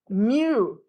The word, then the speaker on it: mu: is the Greek letter Mew pronounced like a little cat okay now many people have troubles writing the letter mu some people write it